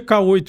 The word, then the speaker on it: Q8: Pronuncia K8 em inglês.